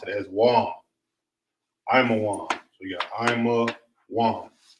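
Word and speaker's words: עמון: How you pronounce Ammon in the Hebrew would be Imawan.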